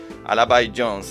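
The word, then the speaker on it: Al-B Jones: escuchando que se llama alab Jones se llama se escribe a L I de punto B I de Punto y Jones de Jones al by Jones está bien bueno es ciencia ficción escrito por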